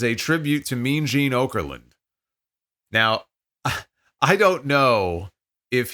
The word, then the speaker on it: Okerlund: Okerland position, as a tribute to Mean Gene Okerlund. Now, I don't know if he just mispronounced the man's name and called it Okerland instead of Okerland, or if that's really what they're calling it, the Okerland position.